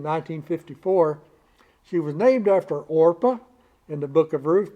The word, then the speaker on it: Orpah: consult a bible or they weren't sure how to spell or pronounce it so they started calling her oprah instead so it's it's now oprah but she her intended name was orpah after orpah in the